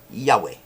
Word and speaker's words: Yahweh: They are pronounced Yod-He Vav-He. Yahweh.